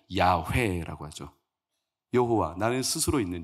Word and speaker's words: 야훼: 히브리 발음 그대로 음가를 발하면 야훼라고 하죠.